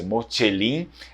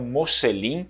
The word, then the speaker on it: Mocellin: sistema da língua italiana, se coloca a T, né, o C, para ter esse som mais doce, Mocelin, no vêneto a gente substitui isso com a letra S. Então, Mocelin seria uma pronúncia até mais clássica, mais antiga da língua vêneta, e Mocelin seria uma pronúncia um pouco mais moderna, ok?